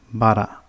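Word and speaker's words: ばら: And it's pronounced bara.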